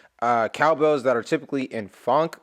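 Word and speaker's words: phonk: Reminds me a little bit of the cowbells that are typically in funk music. That's how you pronounce it, p h o n k.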